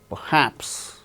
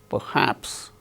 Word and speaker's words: perhaps: gains stress relation relation Perhaps Perhaps R is not uttered because it is followed by her in the word perhaps receive examine so in